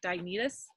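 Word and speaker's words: Diognetus: included in your notes this letter to diagnose diagnosis that's how you say his name from the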